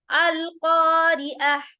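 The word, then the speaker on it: القارعة: अगर इसको वक्फ करेंगे तो हम इसको ता नहीं बल्कि हा में तब्दील करेंगे, कैसे, अल क़ारिअह।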